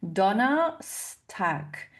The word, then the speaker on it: Donnerstag: Attention ici à bien ajouter aussi le s de liaison comme tack hein. Donna stack.